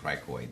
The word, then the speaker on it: cricoid: If I tell it that I'm lost, I'm like, oh my god, so I just pronounce it cricoid. Yeah. Cricoid. And I think of it as cry, to tear, and I think of it as tears Me coming too.